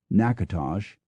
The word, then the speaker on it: Natchitoches: with fire markings near, Natchitoches, Louisiana, pronounced Natchitoches, and Schaghtikoke, New York, pronounced Scattercoke.